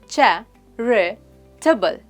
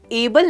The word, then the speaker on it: charitable: इसकी प्रोनाउंसिएशन है चैरिटेबल। चैरिटेबल। हम एंड में एबल नहीं अबल कहते हैं।